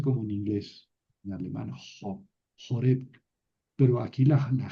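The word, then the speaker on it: Horeb: Joreb. Hasta es más hasta lo voy a cabar aquí al monte Joreb. Así se pronuncian.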